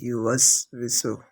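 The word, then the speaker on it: يُوَسْوِسُ: ওয়াসওয়িসু এই জায়গায় আমরা ওকে এমন ভাবে পড়ি, হামজার মতো শক্ত করে ফেলি। আর ওটা যেহেতু দুই ঠোঁটের গোল আকৃতি হতে উচ্চারিত হয়, সেক্ষেত্রে আমরা ওইভাবে উচ্চারণ করতে পারি না।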